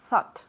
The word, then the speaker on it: thought: I thought of you. Saca tu lengua bien.